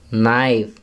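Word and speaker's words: knee: First, नी, के silent है।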